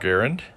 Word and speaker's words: Garand: World War II era by Mr. Garand, which is how the rifle is actually pronounced.